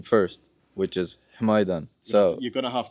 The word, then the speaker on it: Hmidan: So but my ig is my last name first, which is himidan. So you're going to have to spell that exactly.